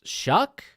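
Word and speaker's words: Shough: one for texas tech it's shuck it ain't prince it ain't pronounced chuck there ain't no way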